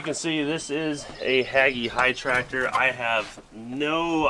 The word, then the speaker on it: Hagie: see this is a haggy high tractor i have no idea what year i also don't know if i'm even pronouncing haggy right i think it's actually hagey either way they're actually